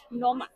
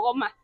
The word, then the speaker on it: gnoma: especial goomo la gnoma noma no Cómo se pronuncia es que es noma la g se omite Entonces noma noma Okay yo la pronunciaba más casi como goma sí Bueno realmente es